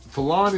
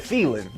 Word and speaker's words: Fallon: guy came from fallon fallon is uh 25 miles away oh that's how you pronounce that i've been calling it feeling sounded like the archangel